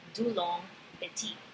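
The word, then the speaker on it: Dulong–Petit: long petit model so I looked up how it's pronounced and it's too long Betty moving forward a crystal can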